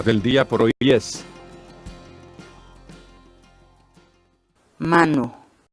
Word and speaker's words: manu: de videos en la que te enseñamos a pronunciar algunas palabras en quechua. Así que nuestra palabra del día por hoy es mano, mano, mano, la palabra quechua.